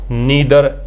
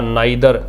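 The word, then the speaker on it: neither: Pronoun each भी होता है, ईदर, जिसको आप आइदर भी प्रोनाउंस कर सकते हैं, नीदर या नाइदर, ये भी प्रोनाउंस हो सकते हैं।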